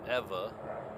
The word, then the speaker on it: Ewa: hear me pronounce it Eva in Hawaiian most of the time the W has a v sound like so name Kika